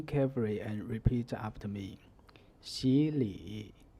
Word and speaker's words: 洗礼: For example, 洗礼. Pay attention to the pronunciation. The third tone 洗 becomes the second tone 习, which can be represented by the tone number 3-5.